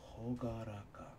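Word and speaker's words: 朗らか: out the pronunciation of this real quick means pronunciation hogaraka hogaraka is cheerful Mary sunny or bright we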